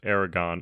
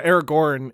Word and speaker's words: Aragorn: Somebody pronounced Aragon. I'm assuming it was me because I'm not very good. Which is the dragon from which is a dragon from a novel. Yeah, Aragorn is the character from Lord of the Rings.